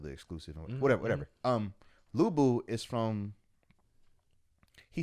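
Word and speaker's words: Lü Bu: like weeks yo lou was that dude lubu in south south but i used to call him cow cow before i realized the actual pronunciation though the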